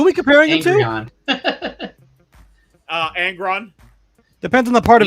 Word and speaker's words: Angron: Angron. Depends on the part of his story. It's pronounced Angry-on.